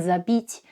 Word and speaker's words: забить: My personal issue is the distinction between the Russian sounds I and I. It's because we don't have the second one in Serbian, and I still sometimes mix them up. But I've learned to be extra careful with words where this sound can change the meaning, like забыть and забить.